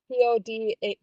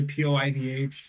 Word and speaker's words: POIDH: I always think of it as Poid. Yes, many people do think of this point. That is my bad for a very hard to pronounce name. I mean, I guess we could just call it Pixar. It didn't happen. Yeah, Pixar didn't happen. I mean, I generally say Poidh.